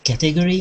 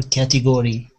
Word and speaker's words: category: Is it category or category? I would say category. Category. Okay. So like the stress is on the beginning. Category.